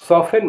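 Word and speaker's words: soften: माने प्राया एस ओ एफ टी ई एन सफन माने कोमल करना यू साइलेंट वाले आपको अक्षर बताने वाला हूं जिसमें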